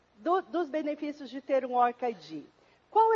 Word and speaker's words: ORCID: Mas, segundo a Lilian Pessoa, que é a representante do ORCID na América, para a América Latina, a pronúncia correta é ORCID.